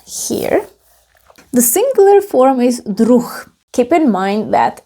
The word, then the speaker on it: druh: The singular form is druh. Keep in mind that if the letter H is at the end of the word, we pronounce it as h. So this is druh.